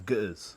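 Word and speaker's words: Ge'ez: Giz, yeah. Giz. Oh, it's like the okay. The silent letter.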